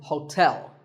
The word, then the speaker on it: hotel: interesting number 12 is Hotel there are two syllables ho and tell like the English word tell as in tell me the stress is on the second syllable so hotel a related word is